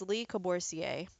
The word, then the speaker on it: Le Corbusier: Okay, make sure you got the architect's name is, it's pronounced Le Corbusier.